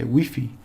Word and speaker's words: Wi-Fi: example Al they say we say Wi-Fi for the wireless internet connection they say weffy because they pronounce it like they they read it weffy and uh so anything